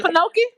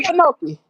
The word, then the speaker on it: Okefenokee: Wait a minute, how they pronounce it? Wait a minute, okay, a Kefinoki is in Okefenokee? is Yeah, I old know about thing. Okefenokee.